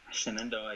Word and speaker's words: Shenandoah: Israel, Shenandoah. Shenandoah, yep. Good, perfect.